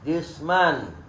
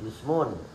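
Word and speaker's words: جسمًا: wangi badanah jisman Oh Jadi dibacanya harus nasab jisman ini tidak boleh Toba Muhammadun jismun Toa Muhammadun jismin salah harus jisman sudahud kali sudahud Az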